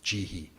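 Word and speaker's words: 慈悲: kaduna character is um in Japanese the Chinese pronunciation is he uh and so jihi right that jihi is the kanji that we know um usually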